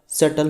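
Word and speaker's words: subtle: साथ में है तो दोनों में बी आपका क्या है साइलेंट हो गया ओके और सल का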